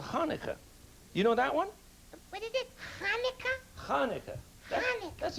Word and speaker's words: Hanukkah: did the same thing with a festival called Hanukkah you know that one that's very good pronunciation this is a menorah menorah and the